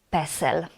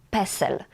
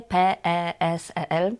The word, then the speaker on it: PESEL: Drugi skrót to PESEL. PESEL to coś bardzo ważnego w Polsce. Czytamy ten skrót jak słowo PESEL. Nie litery, nie P-E-S-E-L, nie. Mówimy po prostu PESEL.